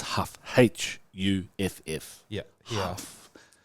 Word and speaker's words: Huff: In Brazil, everyone says Huffa. Huffa. Yeah. But how do they spell it in Brazil? Okay, that sounds like rougher Yeah. to me. Rough. Because like the sound of H, it's the R for us.